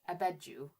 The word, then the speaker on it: Abedju: ever like okay so I would prefer to say it the way that the Egyptians say it which is abidos. So I will have to make an concentrated effort to unlearn how I pronounce it. Um, but really what should we should all be saying is Abedju because that's what the actual Egyptian name for the city is.